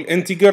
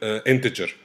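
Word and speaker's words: integer: لي رساله ان انا الان اوقات بقول عليها انتجر واوقات بقول عليها انتجر ايه الفرق او انهي الصح بص انا كنت طول عمري بقول انتجر عشان انا اتعلمت في مصر واللي علموني مصريين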